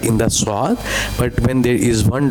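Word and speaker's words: ص: So, it's a bold letter as well.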